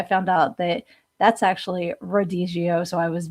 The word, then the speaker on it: Rodizio: I kept calling it Riadigio, which is a Brazilian steakhouse that I went to. And actually, I found out that that's actually Rodizio.